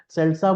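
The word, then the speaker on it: seltzer: Popular नहीं हुई है, सेल्सा बोलते हैं इसको। स्पेलिंग आपको स्क्रीन पर दिख जाएगी। प्रोनाउंसिएशन और स्पेलिंग में थोड़ा सा फर्क है यहाँ पर।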